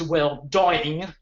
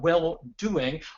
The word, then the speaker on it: well-doing: word uh doing uh it is not pronounced well doing uh which some of my students uh um tried but welld doing what is it that